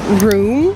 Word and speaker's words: Rome: Okay, so now we're gonna go to this place called Room. It's spelled like Rome.